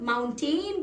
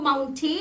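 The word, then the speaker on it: mountain: और वो है ये सो पहाड़ों को लोग माउंटेन कहते हैं क्योंकि उसकी स्पेलिंग में टी ए आई एन है लेकिन वो माउंट नहीं होता है वो होता है माउंट माउंट ठीक है मूविंग ऑन तू डी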